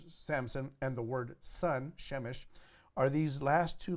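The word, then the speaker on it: שמש: word for son so he in Hebrew you will pronounce Samson Shem shown and you pronounce son shemesh okay now you don't have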